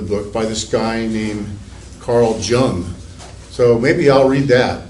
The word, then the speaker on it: Jung: So I read the foreword to the Tibetan Book of the Dead that was written by this Swiss psychiatrist, Carl Jung, as his name is pronounced.